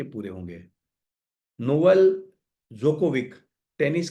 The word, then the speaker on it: Djokovic: डोजोकोविक है, डोजोकोविक। Please unmute yourself. Djokovic. जोकोविक, D is silent.